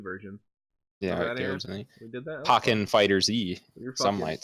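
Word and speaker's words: FighterZ: speaking of incorrect pronunciation I'm pretty sure it is Dragon Ball fighters because if you look at their history you've got Dragon Ball Z it's not [ __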